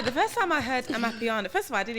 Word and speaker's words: Amapiano: The first time I heard Amapiano, first of all, I didn't even know.